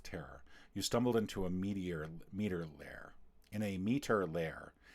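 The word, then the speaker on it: Meater: You stumbled into a meter lair. In a meter lair. It's spelled meter like M-E-A-T-E-R, which is just bizarre.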